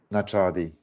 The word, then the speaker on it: Najadi: How do how is that pronounced? Nachadi.